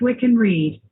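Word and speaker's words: Wiccan Rede: is the wiccan reed hey google how do you say we can read that's pronounced we can read okay good also known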